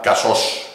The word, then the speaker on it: Casós: Este era con la O cerrada, y en el otro